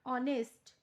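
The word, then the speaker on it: honest: N enemy N umbrella some words like ऑनेस्ट our here it C begin with a वल sound S द इनिश word H is silent we write an before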